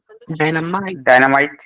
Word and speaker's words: dynamite: Dynamite. Yes, it is dynamite, not mate, dynamite.